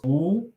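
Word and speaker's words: 五: home I would say in Chinese five is pronounced oh and my brother was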